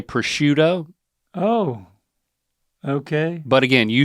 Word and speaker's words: prosciutto: taco okay I like taquitos you know and prosquito you could put a little prosquito on your Taquito yeah yeah yeah proscuino I'll take a persquito taquito por favor look at that now uh I would say prosciutto oh okay but again you shouldn't no matter